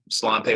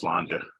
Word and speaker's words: Sláinte: For anyone who said Slante, whoever it was, just FYI, it's spelled that way, but it's pronounced Slanja.